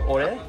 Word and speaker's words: Aurère: How do we pronounce it? Orer? Orer, it's called.